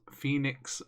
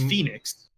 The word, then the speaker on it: Fenyx: Gods and Monsters have a new name: Immortals Phoenix Rising.